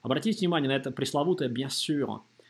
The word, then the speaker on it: bien sûr: Н-носовая здесь. Не бьян, а Н-носовая после йод. Bien, носом после Н-носовой. И Н это Н-носовая после йод. Bien sûr произносится очень остро, как будто бы сир. Только губы вперед. Сюр. То есть не сюр.